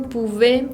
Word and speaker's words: pouvez: En la palabra lentement, no se pronuncia la T final y tenemos una nasal, la E con N, la combinación.